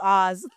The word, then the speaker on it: Oz: It literally is just Oz. Like, we've seen The Wizard of Oz.